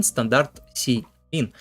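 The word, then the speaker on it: std::cin: операторы произносится как Стандарт и операторы СТД сиин произносится как стандарт sein Standard cin для чтения текста и чисел с консоли как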